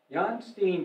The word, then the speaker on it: Jan Steen: is when the painter jan steen i pronounce it american pronunciation i understand john steen visited their house and